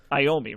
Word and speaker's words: Iommi: Is it Iommi, right? That's how you pronounce it.